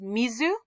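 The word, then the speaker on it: 水: here okay so here's your stroke order that's pronounced mizu or it's swee like in suiobi okay which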